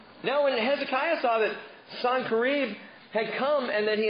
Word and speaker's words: Sennacherib: After these acts of faithfulness, Sennacherib, and that's how you say his name. I know you've heard probably Sennacherib or Sennacherib or something, I don't know, but Sennacherib is his name, king of Assyria.